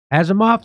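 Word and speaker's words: Asimov: Azimoff. Is that how you say it? Azimov.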